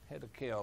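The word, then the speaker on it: Hiddekel: the third river is you have to spell that one Linda h i d d e k e l head of kill I guess you can name it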